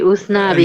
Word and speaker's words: Usnavi: And of course, Spanish pronunciation turns out to be Usnavi, Yeah.